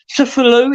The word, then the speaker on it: Cthulhu: Cthulhu, is that his name?